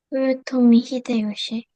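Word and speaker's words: 豊臣秀吉: 도요토미 히데요시. 도요토미 히데요시. 한자로는 이 사람 이름을 풍신수길이라고. 한자로는 풍신수길이라고 있는데 이거를 일본말을 읽으면 도요토미 히데요시라고 읽는 거야.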